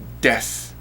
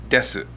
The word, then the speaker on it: desu: But 9 times out of 10, you're going to hear des, not desu.